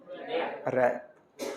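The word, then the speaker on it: wrap: एन सी H range W आर ए प रप रैप करते है ना लपेट हैं इसी से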